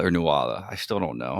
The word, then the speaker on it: Nuala: It's spelled Nuala. But I when I hear it, it sounds like Nula. Yeah, exactly. So, I'll I'll try to say Nula.